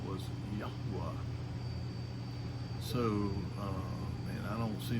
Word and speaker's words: Yahweh: And so he told his grandson that the way that they had always pronounced his name was Yahweh.